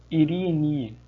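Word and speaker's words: εἰρήνη: A paz, em grego, pronuncia-se Irene, que é Irene no português.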